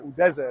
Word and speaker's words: Udeze: I said, Udeze.